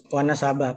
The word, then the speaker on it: Wanasaba: Beliau lahir di Wonosobo, Lombok Timur. Ini Wonosobo atau Wanasaba nih bacanya Guru? Wanasaba. Kalau Wonosobo Jawa.